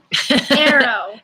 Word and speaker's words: tarot: The good tarot. Tarot. What does tarot rhyme with? Bone marrow. Arrow. Arrow. Yeah, good one.